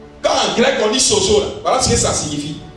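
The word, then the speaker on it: σώζω: Sauvé en grec se prononce sozo.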